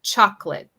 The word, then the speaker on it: chocolate: So I would say chocolate, just 2 syllables.